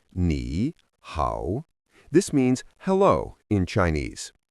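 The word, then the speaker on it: 你好: The first phrase you need is pronounced nihow.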